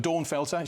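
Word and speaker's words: Dornfelder: a a great called Dawn Felder which I I I say as if it's a lady's name I think I'm sure if it was German pronunciation it felter da felter but Dawn felter she feels from Ribble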